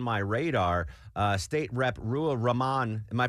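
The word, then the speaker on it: Ruwa Romman: Uh state rep Rua Raman, am I pronouncing that correctly? Yeah. Yeah. Ru Raman.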